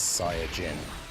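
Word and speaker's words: サイヤ人: There's no uh I get the point that they were making is that SSJ comes from the fact that in Japanese it's Sia Jin.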